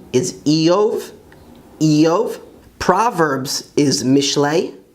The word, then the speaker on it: משלי: Proverbs is Mishlei, Mishlei, which means Proverbs.